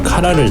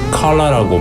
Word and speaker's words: collar: 천천히 원단에 상처가 나지 않게 아주 조심히 먼저 카라를 제거해줍니다. 한국에서는 카라라고 발음하죠. 미국에서는 컬러라고 발음합니다. 하지만 영국에선 뭐라고 발음하는지 아시나요? 콜라라고 합니다.